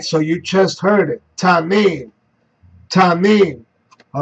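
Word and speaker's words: תנין: Tanim. Strong's H, 8577. Tanim. Tanim. All right, so you just heard it. Tanim.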